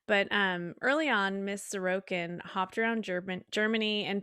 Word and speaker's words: Sorokin: how do you say the last name again sorokin sorokin okay sorry was a truck driver and